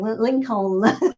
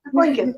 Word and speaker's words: Lincoln: of his accent, but whenever he said Lincoln, he always pronounced the second L. It's like Lincoln. It's like, that's the one thing I was like, Dad, it's Lincoln.